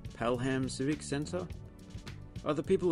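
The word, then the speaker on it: Pelham: on I've been saying palum but they pronounce the h in Birmingham so I guess it's Palam Palam Civic sensor are the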